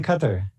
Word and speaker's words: Qatar: What are you doing in Qatar?